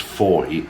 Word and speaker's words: Fowey: I've now had it on first hand that it's Fowey, even though it's spelled F-O-W-E-Y.